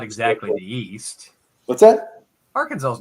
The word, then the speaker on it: Arkansas: all Kansas on my phone yeah well it's pronounced Arkansas so it says Southern U.S yes it is